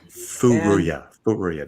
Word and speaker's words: Furuya: Furuya. That's how you say it. Furuya, yeah. The very first time I ever met him, I totally said it wrong.